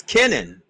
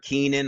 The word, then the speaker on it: Kenan: pronounce my name correctly because I've heard it's Kenan okay good I did it right Ken yes perfect I've heard Keenan I've heard Kanan I've heard everything other than what it is so yeah